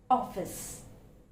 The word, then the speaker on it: office: Next one, the word office. Office. It's not office. Okay, it's not office, it's office. That's the sound, office.